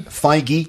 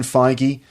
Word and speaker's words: Feige: okay let's talk about Kevin Feige is that Feige is that how you say his name yeah Kevin Feige so who is Kevin Feige so Kevin Feige